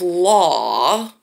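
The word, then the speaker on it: Luo: And she calls herself Law by sound, even though it's spelled L-U-O.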